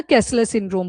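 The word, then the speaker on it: Kessler syndrome: के ई एस एस ई एल एल ई R spellings देख लेना कैसलर सिंड्रोम बोलते हैं उसको कैसलर सिंड्रोम अब देखो नाम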